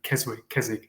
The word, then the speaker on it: Keswick: I am I'm born and bred Keswickian, which is the only time you actually pronounce the W in Keswick, is if you're from there.